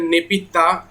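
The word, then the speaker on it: Naypyidaw: ये आप ऑप्शन यहाँ पे देख रहे हैं, दिस इज योर नेपिदा, जिसको यहाँ पे हम दा के जगह नेपिता प्रोनाउंसिएशन करते हैं, ठीक है। इसका उच्चारण हम क्या करते हैं, नेपिता।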